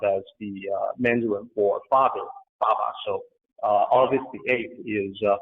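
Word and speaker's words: 八: Well, for the Chinese, and this is especially true in the southern parts of China, the number 8 is Ba, which rhymes with a character for being prosperous.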